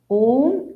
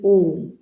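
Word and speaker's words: ॐ: It is Om. Though it is made up of A, U and Ma, when we chant, we say Om. It is one single syllabled sound, Om.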